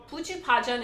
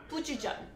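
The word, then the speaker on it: 부추전: Puchupajeon is how I would say it, but the abbreviated version is puchujan. I think that's actually the right way to say it too, is puchujan, which is chives.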